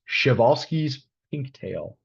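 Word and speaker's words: Przewalski's pinktail: one bird called I I believe it's pronounced shal's pinktail um as in shal's horse the only uh uh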